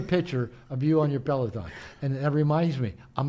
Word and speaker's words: Peloton: He said, well, I've got my, how do you say it, Peloton? His bicycle? Peloton, yeah.